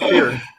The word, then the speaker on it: Peart: And it's pronounced Peart, by the way.